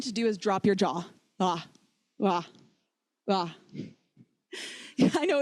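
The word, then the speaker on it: ཇ: The next letter that trips people up is ja. There are two correct ways to pronounce the letter ja. The first is like the J in French. For example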